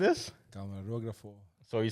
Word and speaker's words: Camarógrafo: Camarógrafo. So you spelled it right. It's spelled it right. It's K-A-M-A. The accent is on the last O.